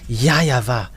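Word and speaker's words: Yahweh: that Grandpa Moshe called yava is his name because this is so obvious uh in uh Eastern uh part the W for them they pronounce it as V or B it must be either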